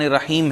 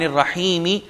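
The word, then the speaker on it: الرحيم: Reality میں زیر ہے۔ یا جیسے یہاں پر میں نے عرض کیا اعوذ باللہ، ہے کے نیچے زیر ہے، رک جائیں گے اعوذ باللہ، بسم اللہ، الحمد للہ، الرحمن الرحیم، جبکہ ان ریالٹی الرحمن الرحیمی، مالک یوم الدین، اور سو آن۔ رک جائیں گے تو جزم اور سکون آ جائے گا۔ آگے ہم بڑھتے ہیں.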